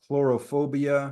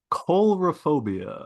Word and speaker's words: coulrophobia: who suffer from just a slightest touch of chlorophobia, is that how you pronounce it? Hmm. Chlorophobia? Oh, Of clowns. I'd have to. It might be a horror movie because the clowns are rather sinister looking. Coulrophobia.